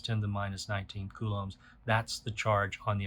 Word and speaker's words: coulomb: to 1.6 times 10 to the minus 19th coulombs. So that capital C right there, that is the unit of charge, and it is called a coulomb. You spell that C-O-U-L-O-M-B, like that, coulomb.